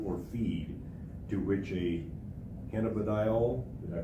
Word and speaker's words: cannabidiol: including animal food or feed, to which a cannabidiol, did I pronounce that correctly?